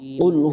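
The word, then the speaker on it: قل: কুল হুয়াল্লাহু আহাদ। কুল এখানে কাফ বলা যাবে না, কুল বলা যাবে না, কুল স্পষ্ট উচ্চারণ করতে হবে।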